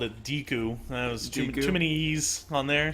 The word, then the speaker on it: Deku: always call the great Deku Tree I think that's the proper way to say I always called it Dooku yeah like cuz I